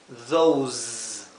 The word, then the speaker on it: those: seguida por una vocal la s se pronuncia como un zumbido Z Z mientras que esta se